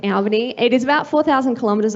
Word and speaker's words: Albany: I come from Albany, so it's Albany, not Albany. So that is how it's pronounced, Albany.